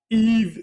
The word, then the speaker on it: Yves: It has to be none other than Yves Bissouma. 1 of 1 diamond. Congratulations, Nova. On a heater today. That was like the last thing I also expected. There we go. The S is silent, guys.